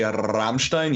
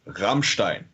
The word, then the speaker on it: Rammstein: It was in his throat. Do it again. Okay, so you don't say Rammstein, you say Rammstein.